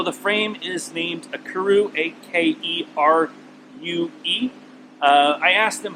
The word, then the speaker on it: Akerue: So the frame is named Akerue, A-K-E-R-U-E. I asked him how he pronounces it, and he says Akerue, so I'm going to say Akerue.